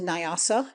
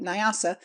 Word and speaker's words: Nyasa: Nyanza contracted into Nyasa means lake, marsh, any piece of water or even the dry bed of a lake. The N and Y are joined in the mouth and never pronounced separately.